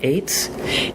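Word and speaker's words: עץ: It's number 6086, and the word is pronounced eitz, and it is tree.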